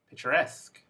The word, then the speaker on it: picturesque: syllable words volunteer referee picturesque so here the suffix is the last syllable and the word stress is the last syllable as well and this brings us